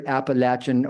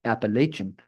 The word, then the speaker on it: Appalachian: In the region, it tends to be pronounced Appalachin. Outside the region, it tends to be pronounced Appalachian.